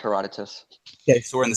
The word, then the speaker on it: Herodotus: So the first one okay um Herod is it Herodotus? I'm going to mispronounce some stuff here too. So that's correct. Heroditus.